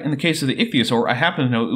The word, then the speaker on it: ichthyosaur: it was giving birth an ichio sore huh so I'm actually not all that picky about pronouncing scientific names my rule of thumb is give every consonant and vowel a reasonable pronunciation and don't skip any of them this is an ichthyosaur and what about these